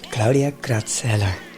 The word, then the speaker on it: Claudia Kratzheller: Welcome Claudia Cratellar. Did I pronounce this right?